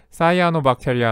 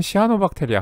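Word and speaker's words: cyanobacteria: 남 균 류 그리고 원래 발음대로 하면은 싸이 아노 박테리아 한데 우리나라에서는 시아노 박테리아 그의 발은 반대로 읽음 같에 시아노 박테리아 라고 부르는 그 애들이야 그치 그래서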